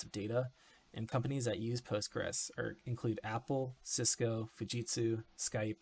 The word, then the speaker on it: PostgreSQL: PostgreSQL pronounced Postgres is an open-source Object-Relational database.